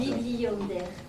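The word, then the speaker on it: Bibliander: Bibli Yonder. Ça s'écrit comment?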